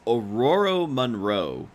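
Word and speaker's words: Ororo Munroe: It's Auroro Monroe. Correct. The pronunciation.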